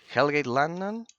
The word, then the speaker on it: Hellgate London: You is a because of the pronunciation. Hellgate London like this like this. Hellgate London.